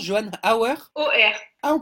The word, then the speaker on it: Hauer: OR. Ah, on prononce OR.